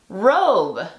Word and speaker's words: robe: ¿Qué pasa si le colocamos una E a esta palabra? La E le dice a la O que diga su nombre. Entonces se pronuncia robe.